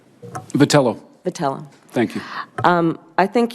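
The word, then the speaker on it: Vitiello: Vitali oh that you would agree ever had pronounced your name correctly patella patella thank you I think you would agree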